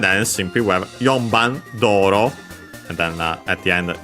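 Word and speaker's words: 道路: But yeah, simply we have Yonban Doro. So yeah, again the usual route. Doro. In Japanese, as you have seen, Chinese compound accent on the first mora. This one, the second most common accent for those.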